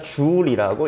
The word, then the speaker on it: 줄: 이걸 이제 우리가 줄이라고 읽습니다.